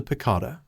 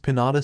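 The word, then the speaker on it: piñata: The hell's a piccata? Zero asked. A food. Hagakure raised her hand excitedly. I tried those once. It's pronounced pinata Zero, Aoyama said with a pose.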